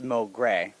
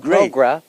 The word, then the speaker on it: Mogray: The first question that we have to ask, is it Mogray or Mogray? It's Mogray, but Mogray works too. So, I mean, there's a lot of pronunciation, but Mogray is how I say it.